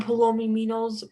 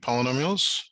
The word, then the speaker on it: polynomials: today oh uh we're gonna be working on palomi meanos uh polynomials or something okay polynomials uh that's how you say it poly polynomials